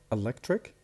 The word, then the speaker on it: electric: So we have electric, the stress in the middle.